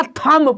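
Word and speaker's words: thumb: हमेशा साइलेंट रहता है एम के बाद भी हमेशा साइलेंट रहता है जैसे टी ह यू बी तो आप बच्चे कल बताया नहीं है तो यहां से दादा वो बोल देगा क्या थंब पर देगा क्या पढ़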